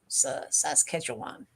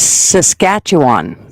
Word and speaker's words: Saskatchewan: us can say the word correctly and I'm pronouncing it like Sasha said saset oan s SAS ketan it almost sounds Chinese SAS Kwan sounds like